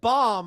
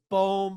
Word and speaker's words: Bohm: Well, I think it's Bohm, but you I mean, it's an H, it should be Bom.